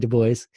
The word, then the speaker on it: Du Bois: people like w eb Dubois RG boys sorry I want to pronounce things like like like they're they're French but he said to boys and it was an